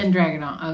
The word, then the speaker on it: Dragunov: Is it Dragunov? Is that how you say it? I usually just do the best I can. Ilya Dragunov. Dragunov. Okay, I thought it was Dragon.